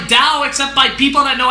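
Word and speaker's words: Tao: Dao the word that's spelled like ta but pronounced like Dao except by people that know absolutely nothing about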